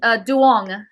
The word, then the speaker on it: Doung: got you got my uh uh first part of my last name right but um Dong Dong that's my yeah I added